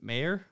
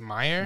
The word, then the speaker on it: Mayer: so what was uh how do you pronounce mgm metro goldwyn mayer i think it's meyer meyer i think so so